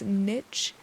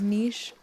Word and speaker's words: niche: A language-based pet peeve for me is when people pronounce the word niche as niche. And maybe I would too, if I hadn't learned back in 6th grade that it was pronounced as niche.